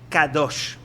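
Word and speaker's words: קדוש: Normalmente la palabra santo en hebreo se dice kadosh.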